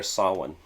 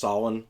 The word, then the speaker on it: Samhain: so the million dollar question is is it pronounced samhain or saw one uh i i understand that the correct pronunciation is alwan yeah um of course i just i say samhain yeah and the reason why is because if